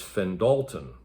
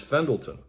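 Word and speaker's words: Fendalton: programmed into the computer wanted to continuously pronounce the name of the street as fenn dalton but to my eye looking at the map i thought the pronunciation was fendlton so i started a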